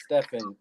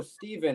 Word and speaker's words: Stefan: the only one um they can't understand that it's stefan with an f they're like oh steven and i'm like okay cool what sound does the letter f make and they're like and i'm like okay now say my name and they're like steven and i'm like no no that's not it um but thanks for